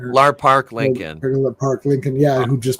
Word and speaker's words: Lar Park Lincoln: Um, Lar Par Lincoln. I can never say her name. Lar Park Lincoln.